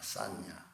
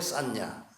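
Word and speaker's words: saññā: 상이라고 하는 말은 인도 말에 싼냐라고 하는 말입니다. 싼냐. 한번 따라서 해보실래요? 싼냐. S-A-N-J-A 이렇게 쓰는 건데 싼냐라고 읽습니다.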